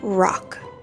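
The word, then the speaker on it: Rocque: He pronounced it rock.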